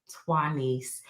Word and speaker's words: Tuanise: So um so I I have her name so I have to explain it to every narrator the pronunciation is Tuanise and but once the narrators